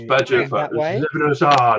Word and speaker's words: Leviosa: Leviosa, not Leviosa. Leviosa. It's Leviosa.